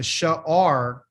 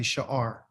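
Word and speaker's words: שער: Sha'ar. Here it is, sha'ar. There's another word called sha'ar, but it's a shin, an aleph, and a resh. Okay, they're both pronounced exactly the same.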